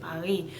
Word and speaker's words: Paris: The S is silent, but you see the R, Paris.